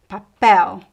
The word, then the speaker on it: papel: So if there is no graphic accent anywhere else in the word, you know that the stress is at the end. Papel, hotel, anel, farol, lençol, futebol. The other syllables are unstressed, okay?